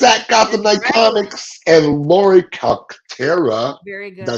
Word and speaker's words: Calcaterra: Gothamnightcomics and Laurie Calcaterra.